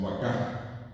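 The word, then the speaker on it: vaka: En guaraní las palabras son todas agudas. Entonces si acá llegó la vaca, a la vaca le decimos vacá, al caballo, el caballú,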